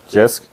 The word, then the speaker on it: JYSK: Jisk?